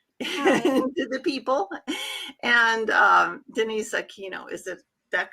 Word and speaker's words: Aquino: Destine, say hello to the people, and Denise Aquino. Is that correct pronunciation?